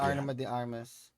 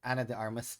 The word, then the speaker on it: Ana de Armas: Arma de Armas. Ana de Armas. Eh, say it right. Hashtag Ana de Armas.